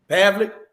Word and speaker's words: Pavlik: Pavlik.